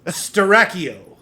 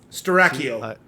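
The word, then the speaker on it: Styracio: yeah what was that name of that place starrachio it is spelled let me pull up my notes right quick all right it is spilled uh uh s t y r a c i o strachio all right Dracula just name up a place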